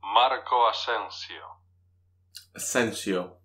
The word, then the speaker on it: Marco Asensio: Marco Asensio. That's how you pronounce it.